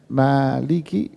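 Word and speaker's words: مَالِكِ: bacanya Hai dan banyak negara di dunia bacanya Maliki dengan Meme yang panjang Hai ada bacaan lain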